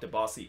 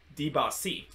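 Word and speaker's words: Dibassy: oh by the way it's not debassi it's diba c apparently that's actually the new pronunciation i think uh it kind of all started in that game between minnesota versus seattle where they started to pronounce the bossy name as dipassi and i think that's kind of like the french french pronunciation and ever since then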